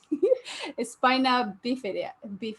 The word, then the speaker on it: spina bifida: You say it so nice, like Spanish, Como tú estás? You say spina bifida.